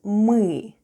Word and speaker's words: мы: Let's have a look at the spelling of the word "мы" or "we." The first sound is "m" and then goes "ы." Try saying "e" while pushing the tongue to the back of your mouth.